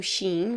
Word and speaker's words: Shein: inclusive vocês vocês pronunciam sim vocês pronunciam tem gente que fala Shiny eu falo Sim acertou ah miserável tem